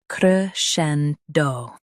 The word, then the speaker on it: crescendo: cre scen do cre-scen-do Stress scen and keep do soft.